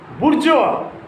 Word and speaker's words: bourgeois: Maupassant, A-N-T is unpronounced. Maupassant. Bourgeois, it is also a French word.